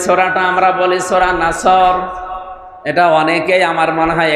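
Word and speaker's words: نصر: এখানে সোয়াদ মুখ দল করে উচ্চারণ করা লাগবে। সোয়াদকে সিন দিয়ে বললে অর্থটা আকাশ পাতাল পাল্টিয়ে যাচ্ছে।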